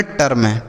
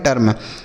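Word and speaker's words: term: टी ई आर एम टर्म। एफ ई आर एम इसे हम पढ़ेंगे फर्म। क्या पढ़ेंगे? फर्म। तो अगर ई के साथ आर रहेगा तो इ का उच्चारण आ के रूप में कर देंगे।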